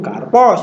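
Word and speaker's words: καρπός: Kalau bahasanya itu biasanya karpos, ya kita harus mengikuti kebiasaannya itu karpos. Oh, berarti aksennya di belakang.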